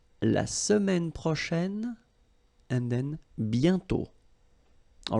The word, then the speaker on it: bientôt: And then bientôt, okay, remember you put this accent circonflexe but you don't write it, you write it but you don't pronounce it, and then the final T is not pronounced.